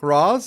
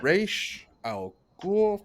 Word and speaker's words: Ra's al Ghul: there's literally a scene, it's like, Roz, is that how you pronounce it? It's like, no. No, it's not how you pronounce it. It's Raish Al Ghul, for the love of God.